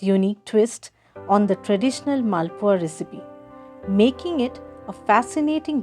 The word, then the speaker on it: Malpua: We Bengalis pronounce this as Malpua.